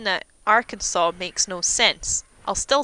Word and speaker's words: Arkansas: I guess, like, you guys have Arkansas, which makes no sense. It's Arkansas. But, yeah, people being willfully